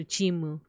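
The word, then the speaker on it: チーム: comment like it's uh just Japanese uh pronunciation of team so chimu yeah team te te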